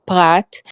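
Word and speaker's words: פרת: in the Hebrew it calls the river the Perat. I'm assuming that's the same as the Euphrates. I really don't know. I don't know. Yes, Yes, Okay. so that's a Prat. It's pronounced Prat, and in the Bible, it's always referred to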